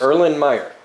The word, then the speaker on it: Erlenmeyer: Erlenmeyer.